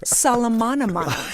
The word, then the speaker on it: Soltanovich: Soltanovich. Very close. Do it again. It's Kira Soltanovich. Come on, do it one more time. Say it right.